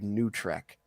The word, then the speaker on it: NuTrek: It's called New Trek, and that's what it's spelled NUTREK, and it's literally what they use to describe all the Paramount Plus shows because that's such a travesty.